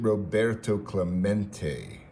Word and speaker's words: Roberto Clemente: stands Roberto Clemente was his name and he pronounced it Roberto Clemente as if to introduce himself about to have